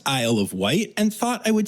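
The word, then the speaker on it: Isle of Wight: has been born at Amazon World on the aisle of white. And Elizabeth Charles, who sent me this story, thought I wouldn't know that it's pronounced Isle of White and thought I would say something stupid like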